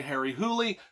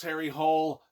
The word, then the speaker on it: Harry Hole: norwegian some people say harry hooley some people say harry h-u-l-l-hole i say it's harry hole like it's spelled uh you know it